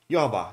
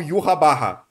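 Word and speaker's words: Yhwach: Porque é como se fosse Jeová, só que uma vibe bem alemã. Só que em japonês, como eles não conseguem pronunciar isso exatamente, eles falam Yuhabarra. E aí o Narras pega essa pronúncia, ele continua falando Yuhabarra. Eu gosto de puxar um pouquinho mais pra, tipo, o que eu consigo falar, ainda deixando perto do alemão. Então, Yuhavá, é como eu chamo.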